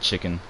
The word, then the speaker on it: CHKN: Or as I call it, it's spelled CHKN, so I just call it chicken.